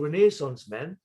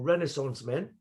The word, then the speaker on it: Renaissance Men: last album which was called renaissance men or renaissance men however you pronounce it both are correct pronunciations um that was more of